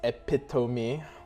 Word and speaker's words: epitome: It's pronounced epitome.